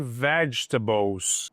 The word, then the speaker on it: vegetables: Você não pronuncia esse e.